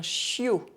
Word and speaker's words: chiot: OI are pronounced wa, but IO are pronounced yo. Un choix, un chiot.